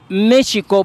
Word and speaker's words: México: locativa del lugar, y se pronuncia México porque tiene X. ¿Por qué no dicen Jola? ¿Por qué no dicen Joquemilco? Si también tiene X.